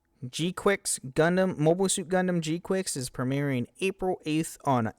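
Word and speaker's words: GQuuuuuuX: Gundam G-Quix. Yes, that is how you pronounce it.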